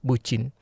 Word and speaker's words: bucin: It's just kind of like that, the meaning of bucin. So actually, bucin, this is how you pronounce it.